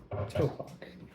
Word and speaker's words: Tupac: Topak. Is it spelled? Yeah, it's just spelled Tupac. Yeah, Why is it pronounced Topak?